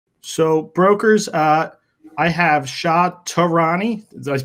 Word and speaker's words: Shah Tehrany: So brokers, I have Shah Tehrany. I pronounced it correct, right?